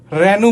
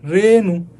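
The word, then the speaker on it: রেণু: তাহলে দেখো, রেনু, ঠিক আছে, আমরা কিন্তু রেনু বলি না, আমরা কি বলছি, রেনু।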